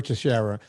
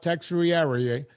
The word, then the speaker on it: Teixeira: I'll say, Teixeira. And then I go through the painstaking, it's spelled TEIX.